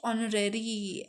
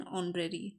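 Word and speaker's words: honorary: Dash ऑनरेरी, एच है but pronunciate नहीं हो रहा है कॉन्सोनेंट तो यहाँ पे एन आएगा, एन ऑनरेरी, ठीक है।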